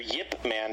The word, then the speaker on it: Ip Man: the first film yeah yeah basically uh Grandmaster Yip Man that's how you actually pronounce his name despite how you spell it